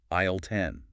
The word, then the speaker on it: aisle: Flexible phrase, and then a practical supermarket term, aisle 10. The source reminds us the us in aisle is silent.